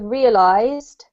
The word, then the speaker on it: realized: exactly the same so with the word realized there's a z sound whether you use an s or not you don't say realized